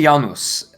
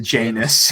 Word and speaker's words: Janus: in this yeah yeah it's meant to be Janus but like they pronounce it Janus yeah which of course leads to a lot